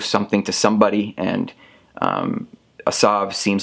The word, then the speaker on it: Asav: over here i want to make sure i pronounce it asav which is the antagonist of this game looks